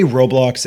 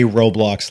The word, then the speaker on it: Roblox: loud actually weirdly enough I say Roblox as in robot yeah I think that's right and I didn't want to just say Roblox later like I was